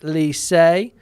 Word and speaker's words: lycée: Adam saying lycée is pronounced lycée, and it's masculine, meaning high school.